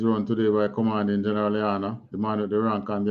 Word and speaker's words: Hachaanakah: But anyway, the proper pronunciation is Hachaanakah. We Israelites, when we were speaking our ancient Hebrew tongue, we used to say Hachaanakah.